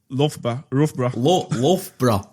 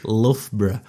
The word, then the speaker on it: Loughborough: I think you made fun of Tom actually about pronouncing this, the name of the Loughborough. Loughborough.